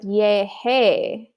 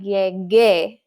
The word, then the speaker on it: llegué: Same with llegar. If we just add the E at the end, we end up with yeje, which also sounds weird. We want to add that U so it can sound like llegué.